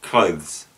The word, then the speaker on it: clothes: clothes with a th this gets pronounced many times without the th in fact clothes but it's clothes an example of this